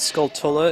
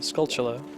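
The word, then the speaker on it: Skulltula: man take that giant spider scula I always pronounced it Scala as a kid and I heard some random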